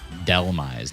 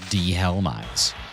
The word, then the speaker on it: Dhelmise: actually in Delise because you pronounce it Delise not DEH helise and like that should